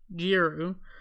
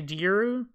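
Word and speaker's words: Djeru: new crop headed by Jeru. I hope I'm saying that right. It's spelled D-J-E-R-U, so I'm going to say Jeru.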